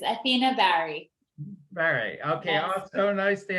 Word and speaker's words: Bahri: sure i found out about yes it's athena barry very okay awesome nice to have you here